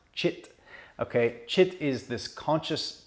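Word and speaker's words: cit: or consciousness the yogis call it chit c-i-t pronounced chit okay chit is this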